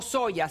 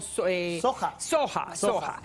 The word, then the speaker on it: soja: Tienen, me dicen que se dice no soya, sino soja.